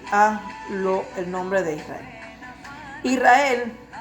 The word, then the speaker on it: Israel: Israel actualmente se pronuncia con S, porque así está puntuada la letra Shin, para sonar como una S y no como una SH.